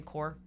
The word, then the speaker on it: corps: i say the marine corps yeah is that what i say yeah it's silent s it's like the p and pterodactyl it's like silent okay okay yeah yeah